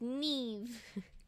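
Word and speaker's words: Niamh: uh fun fact in Irish Gaelic Nim is pronounced Neve I think that's you the knights you say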